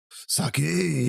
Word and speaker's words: sake: Sake. Sake is correct. Sake. Is that how you pronounce it?